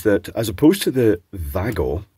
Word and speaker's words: WAGO: as opposed to the Vago or wigo Vago being the correct pronunciation because it's Vagner and uh there's two names Blended together and one of them is Vagner now with these both